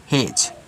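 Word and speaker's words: hedge: ई डी जी ई तो जी से पहले डी अब इसको साइलेंट कर दो तो इसको क्या पढ़ोगे इसको आप एज पढ़ोगे तो देखिए हेज आपका जज हो गया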